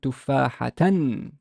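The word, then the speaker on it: تفاحةً: So how would I pronounce it? That's one, is I would pronounce it tufahatan.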